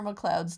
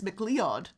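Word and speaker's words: MacLeod: was he was conor mccloud's descendant somehow you know what the fun part is that's not how you pronounce that name in scottish it's not mccloud it's mcleod i don't know it's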